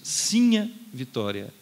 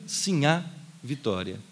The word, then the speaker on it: Sinha: E assim a Vitória, vocês notem que eu estou insistindo na pronúncia Sinha Vitória, e nunca Sinhá Vitória, nem na prosódia, nem no acento gráfico. Por quê? Eu digo isso porque muitas vezes surge com equívoco a grafia Sinhá Vitória, ou até a pronúncia Sinhá Vitória.